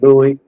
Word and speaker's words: Lewis: It's Louie. Y'all already know Lewis is the way it's spelled.